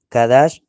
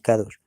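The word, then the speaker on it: קדש: Kadash. Y aquellos cananeos que vivían en Canaán, pues nos pronunciaban como si fuéramos Cados, pero no es Cados, ¿ve?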